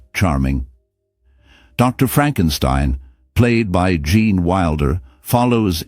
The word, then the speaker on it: Frankenstein: He insists on pronouncing it as Frankenstein, emphasizing the last syllable with a distinct flare.